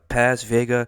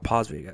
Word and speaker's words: Paz Vega: jolie selma hayek uh paz vega uh i mean uh pause video i believe is how you say it but nonetheless many of